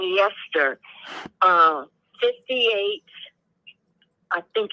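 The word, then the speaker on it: Leicester: I was just curious but it's leester Lester sister yayay yeah it's it's we we we pronounce it leester here um and I I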